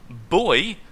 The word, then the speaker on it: buoy: I've only just now found out that this actually has 2 different pronunciations if you're going with the US version or the non-US version. I was never aware of that. Missile radar buoy and missile radar buoy.